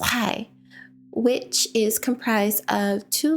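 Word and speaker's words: חי: So, for example, the word life in Hebrew is pronounced chai, which is comprised of two letters, ket and yud.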